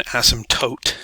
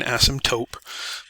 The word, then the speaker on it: asymptote: But that is an asymptote, not an asymptote. Please make sure your pronunciation is on point there.